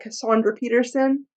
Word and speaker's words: Cassandra Peterson: One of my next book reviews is going to be Yours Cruelly by Cassandra Peterson. That's how you pronounce her name.